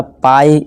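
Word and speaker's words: pie: जब किसी वर्ड के लास्ट में आई ई आए तो आई ई का उच्चारण आई जैसे ही करें, ठीक है। जैसे देखिए डी है और आई ई को हमने क्या बोला, अभी पढ़ा, आई निकालना है, बस डाई। इसी तरह पाई, इसी तरह टाई, ठीक है दोस्तों।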